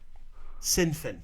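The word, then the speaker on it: Sinn Féin: And it's pronounced Sinfin.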